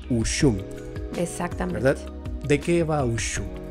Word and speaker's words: Ushum: Platicábamos justamente antes de empezar, ¿cuál es la pronunciación? Ushum.